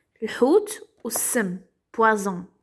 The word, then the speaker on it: poison: Et ça, c'est le poison. Le hout ou sim, poison. Un seul S, ça se prononce comme Z.